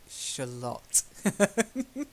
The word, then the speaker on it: Shalott: she the Lady of Shalott that's it it's got to rhyme with Camelot the Lady of Shalott okay very good nice